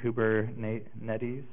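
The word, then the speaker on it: Kubernetes: their terminology recently but here's the pronunciation Cooper Nate Nettie's natives which is Greek for pilot or helmsman and this is a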